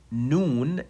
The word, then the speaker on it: noon: Okay, so simply, noon is pronounced just by letting the tip of the tongue touch the gum behind the upper incisors.